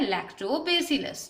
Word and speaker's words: Lactobacillus: तो इन सभी micro organism में से एक बैक्टीरिया होता है जिसे हम क्या प्रोनाउंस करते हैं, लैक्टोबैसिलस, ठीक है।